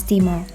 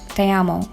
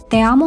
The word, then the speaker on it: te amo: pronounced Gmail address as Timo but then Nina made a correction she said it was Spanish so it's pronounced te amo te amo means I love you